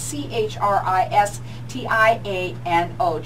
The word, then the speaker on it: Cristiano: It's said just like it's spelled. It's Christiano.